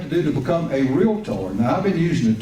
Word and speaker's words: REALTOR: the Texas Association of Realtors and the National Association of Realtors. And by the way, realtor is a 2-syllable word.